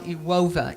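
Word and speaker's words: Iłowa: that with how though and this town it's pronounced now you OVA in polish and this is a beautiful little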